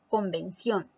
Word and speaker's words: convención: Luego tenemos la palabra convención. Convención. Te darás cuenta que la sílaba tónica es la última, ción, por lo tanto, es una palabra aguda.